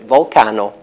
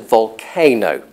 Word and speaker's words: volcano: as you might imagine, he pronounced it volcano. You would think that as a volcanologist working in an English-speaking environment, he would have noticed by now that all his English-speaking colleagues, not to mention all the other half billion or whatever native English speakers in the world, pronounced volcano.